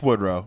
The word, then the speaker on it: Woodrow: It's It's Wood Row. You're right. Um, nobody's named that anymore. But I do think that's probably like a regional pronunciation thing.